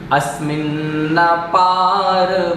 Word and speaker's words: अस्मिन्नपार: अस्मिन् नपार, यहाँ पर दो नकार हैं, अस्मिन् नपार नहीं होगा, अस्मिन् नपार।